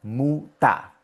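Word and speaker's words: Mutter: Y como el ER está en la última sílaba, por eso es que suena muta.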